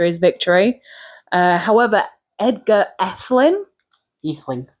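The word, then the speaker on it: Ætheling: Atheling. It is pronounced Atheling. Because it had the funny A in front of it.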